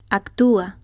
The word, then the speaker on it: actúa: emphasis in the word, the weak vowel is assigned a written accent, and the two vowels do not form a diphthong. País. Pa, is. Actúa. Ac-tu-a.